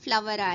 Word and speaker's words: flour: FLOUR, okay, FLOWER ரெண்டுமே எப்படி pronounce பண்ணுவோம்? ஃப்ளார் ஃப்ளவரா? இல்ல, ரெண்டுமே ஃப்ளவர். ஓகேவா? ரெண்டுமே ஃப்ளவர்.